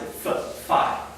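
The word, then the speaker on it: φ: All right, and typically we pronounce it as an F. All right, the ancient Greeks would not pronounce it as an F. We pronounce it phi.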